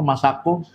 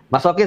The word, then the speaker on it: masokis: Masako? Masokis. Masokis. Kalau masako bumbu masak ya. Mati. Sorry. Wow. Masokis. Aduh, gue bacanya masako.